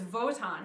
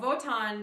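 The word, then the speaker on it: Wotan: god his father is voton who is king of the gods uh voton is another word that starts with a w but is pronounced like a v it's w-o-t-a-n uh voton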